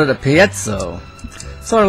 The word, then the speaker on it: piezo: But it's pronounced differently from where you come from. Here's how the English say it. Piezoelectric.